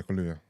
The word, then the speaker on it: Kaluuya: Kaluuya? Yeah, Kaluuya.